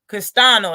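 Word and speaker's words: Castaño: to come in scrap and that's the problem castano that's how you say his name that's his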